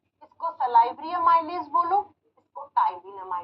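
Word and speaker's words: ptyalin: एक नाम होता है इसको टाइन अमाइज भी कहते अब आप आपने तो प से लिखा है प प्रोनाउंस के समय साइलेंट हो जाता है आप कहोगे हिंदी में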